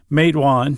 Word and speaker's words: Matewan: and I heard yes I heard a resident say mawan and and I immediately